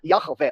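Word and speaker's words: Yahweh: na pesqu Universitária acadêmica como a pronúncia do nome de do tagr está perdida internacionalmente a gente usa yahvé mas eu não vou ficar falando yahvé falo yavé para simplificar não é sequer uma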